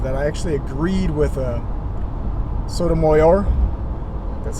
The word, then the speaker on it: Sotomayor: Now, this is the one instance I can imagine that I actually agreed with Sotomayor. That's how you pronounce her name.